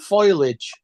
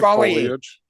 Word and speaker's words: foliage: tin oil that's something else why over there pronounce foliage as foilage foilage foilage I say I sayage after the L not before it yeah I say foliage I say foliage yeah well you got to